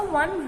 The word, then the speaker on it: one: Before o is pronounced as w. I lost a 1 rupee note.